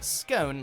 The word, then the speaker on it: scone: the Republic of Ireland you'll also hear scone like tone and then some butter